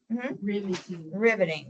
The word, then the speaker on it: riveting: Okay, so the first syllable is closed. Revisiting. Okay, so you're saying re, and that wouldn't even be an open syllable. I want you to say, what is R-I-V? That's a closed syllable. So make that vowel, that I short.